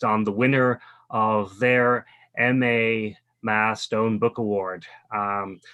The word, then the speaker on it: MAAH: virtually today the Museum of African-American history or Mah pronounced ma the stone the mathstone book award was